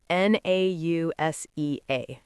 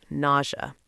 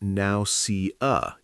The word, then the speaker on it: nausea: N A U S E A. Nausea. And the pronunciation is weird. It's not now cu.